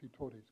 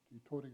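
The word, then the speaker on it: Titore: Let's have a look now at Te Tore's campaign to Tauranga in 1832.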